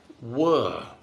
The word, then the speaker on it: were: you wear a shirt the next word were again just one sound er er like in bird the two dots make it slightly longer it's a longer sound so were the past